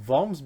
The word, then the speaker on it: Worms: as the worms but it's pronounced voms because w is a v in german and it was written